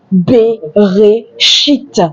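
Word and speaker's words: בראשית: Le mot au commencement se dit en hébreu beréchite. Et voilà son écriture hébraïque beréchite. Beréchite. les Hébreux ou la langue hébraïque s'écrit de droite à gauche pour dire c'est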